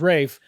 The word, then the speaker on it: Ralph: Fines can spell pronounce his Ralph as Rafe, we call it Raes.